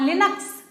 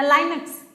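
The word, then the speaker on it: Linux: हाँ, लिनक्स या लाइनक्स एक है, क्या है ये भाई? लाइनक्स क्या है? हाई लेवल लैंग्वेज है, ऑपरेटिंग सिस्टम है, इंटरप्रेटर है, असेंबली लैंग्वेज है। लिनक्स, लाइनक्स, जैसा भी प्रोनाउंसिएट करें आप लोग।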